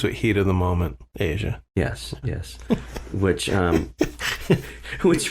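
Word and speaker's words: Aja: the uh from the Asia album Asia by the way is spelled for listeners AJ a haven't got to the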